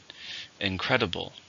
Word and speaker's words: incredible: an adjective how many syllables in an incredible three sorry for stress in a second incredible the movie was incredible